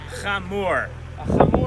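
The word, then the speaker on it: חמור: now how do you say donkey in hebrew come more is a donkey there's three there's two brown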